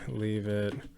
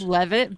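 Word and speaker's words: Leavitt: Carolyn, leave it. Press conference. It's Levit, but I really like that you said leave it.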